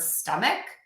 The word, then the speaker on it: stomach: Just want to give you a little word of caution that the letters ch can also be pronounced as k or sh. And we see this in the word stomach and in the word Chicago.